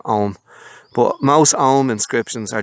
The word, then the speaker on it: Ogham: a letter in Irish, it silences the previous letter, or it softens it almost to a silence. So that's why I'm saying Ogham.